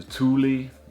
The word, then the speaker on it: Thule: on there as well and um yeah the thule that's how you pronounce it swedish brand uh rear rack um